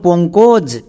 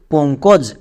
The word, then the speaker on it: পঙ্কজ: এখানে আমাদের পো এর পরে ও সাউন্ড। উক এর পরে ও সাউন্ড এসছে।